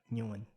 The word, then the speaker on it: Nguyen: that and yeah okay so in the viet way of being in like an english interpretation way you'll be like new one wait how do you do the vietnam oh not bad not